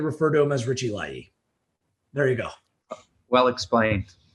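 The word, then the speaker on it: Laryea: He first said Richie Larea, and then he changed, no, I want to do that again. And he said Richie Layi, because this is the traditional or the proper Ghanaian pronunciation of his last name.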